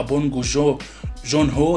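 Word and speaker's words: 봉준호: اللي هو افضل مخرج بونج جو هو، ده اعتقد ده اسم، ده النطق الصح، بونج جو جون هو ده المخرج.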